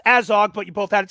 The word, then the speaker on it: Azog: It's pronounced Azog, but you both had it spelled right, so I'm not going to count that against y'all.